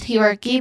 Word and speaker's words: hierarchy: So the first syllable, pronunciation wise, the first syllable has a diphthong sound, I.